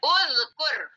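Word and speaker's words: اُذْكُرْ: Karena sebelum terakhir bunyinya dhammah, maka alifnya harus dibaca uzkur. Uzkur.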